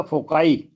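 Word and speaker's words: foci: बिंदु point of concentration इसका शब्द और बनेगा फोकाई एफ ओ सी आई फोकाई फिर हमारा शब्द है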